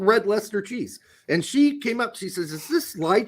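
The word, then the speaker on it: Red Leicester: ways that could have gone okay it's called red Lester cheese and she came up she says is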